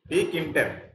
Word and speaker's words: tkinter: Kinter. T is silent here. That's why we have to pronounce like a Kinter module.